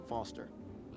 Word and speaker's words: Foster: pickle so it does i'm foster i'll remember that easy because your name rhymes with fossil and you're old thanks